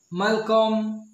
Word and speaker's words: Malcolm: you b i s h david and goliath malcolm gladwell malcolm c o l m welcome elle